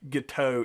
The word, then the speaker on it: Guiteau: uh show up so charles guiteau i've heard it pronounced giddy a guiteau is more accurate based on anyway so charles